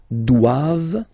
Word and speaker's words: doivent: And then the last one, ils doivent, so same thing, classic ending for the plural form, E-N-T here, okay, but then you don't pronounce it.